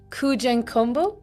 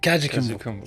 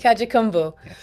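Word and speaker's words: Kajukenbo: And your career consists of so many different types of disciplines: Sistema, MMA, and Kujenkumbo. Could I say it right? Kajikumbu. Kajikumbo.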